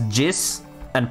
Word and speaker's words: Jizza: How do you correctly pronounce Jizza? It's that, what I just said. Because jizz and pizza. Jizza.